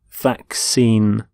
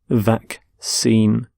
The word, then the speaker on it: vaccine: a disease so vaccine note the pronunciation of vaccine the 2 C's in the middle the first C is the cur sound the second C is the sound vaccine vac seem and you can have